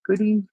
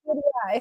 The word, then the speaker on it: Goodeid: Goodie. I've heard it both ways. Goody Yeah, and goody eye. So yeah. it just So depends on where you're from.